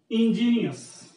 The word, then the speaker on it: ingenious: Here this E is pronounced as A sound, ingenuous, and here this E is pronounced as E sound, ingenious.